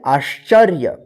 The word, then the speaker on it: आश्चर्य: अद या स अभ्यास आ आद च य य पर क्या रिफ की मात्रा इस क्या पढ़ेंगे आश्चर्य अ अद या य